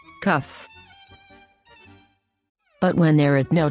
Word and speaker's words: kaf: has a dot inside this dot tells us to pronounce the letter with the k sound cuff cuff but when there is